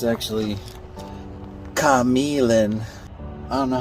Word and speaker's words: Q'emiln: I don't think anyone knows how to pronounce this. I was thinking Ka-Mee-Lin something, but apparently it's actually Ka-Mee-Lin.